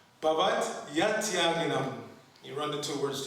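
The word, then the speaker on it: bhavaty atyāginām: So to get the meter properly, you pronounce it Bhavat Yatyaginam. The Y becomes part of the next word. Understand? So you say Bhavat Yatyaginam. Okay? Not Bhavati Atyaginam. Bhavat Yatyaginam.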